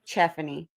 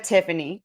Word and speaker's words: Tiffany: But my grandma, my whole life, I'm 35, has called me Cheffany instead of Tiffany.